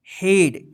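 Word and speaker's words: head: यहां पर लिखे हैं जिसका उच्चारण जो है ना अलग होता है ई नहीं होता यहां पर नोट में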